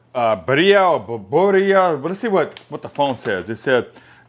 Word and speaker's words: birria: Or in Spanish, it says birria. So you got to roll the R because it says birria. You like to roll the R in the Spanish language.